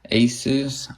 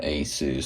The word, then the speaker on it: Asus: I call it Asus. Some people say Asus, whatever. It's the same word. It's how you pronounce it. So I'm going to call it Asus. That's what I've always called it.